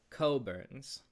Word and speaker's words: Cockburn's: So, this here is pronounced coburns.